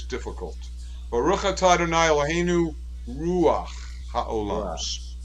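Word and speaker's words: רוח: Baruch atah Adonai Eloheinu ruach ha'olam. Ruach. And it's two syllables, just like melech.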